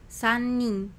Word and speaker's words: 三人: 1人 Hitori, 2人 futari, 3人 sannin, 4人 yonin, 5人 gonin, 6人 rokunin, 7人 shichinin, 7人 nananin.